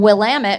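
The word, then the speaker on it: Willamette: Bow number 10 from Will Ammit, which as we know from an earlier entry rhymes with damn it.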